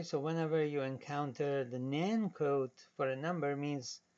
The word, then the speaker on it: NaN: representing what we call not a number n a n then again we pronounced that nan so nan is something